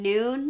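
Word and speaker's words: Nuun: that for me personally using noon and that's spelled n-u-u-n those tablets i found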